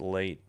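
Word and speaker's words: Leite: L E I T E but it's pronounced Late.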